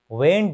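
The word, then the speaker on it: when: व्हेन डू यू गेट अप इन the morning? व्हेन मतलब कब। जब भी डब्ल्यू के बाद एच आता है, एच साइलेंट हो जाता है, वर्ब पढ़ा जाता है।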